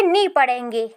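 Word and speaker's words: knee: ई नी होता है तो यहां किनी नहीं पढ़ते हैं ध्यान रखना है कि जहां पर भी एन के पहले के आता है तो वहां पर ज्यादातर जगहों पर के साइलेंट होता है तो इसे किनी नहीं पढ़ेंगे इसे नी पढ़ेंगे नी जैसे कि नॉलेज तो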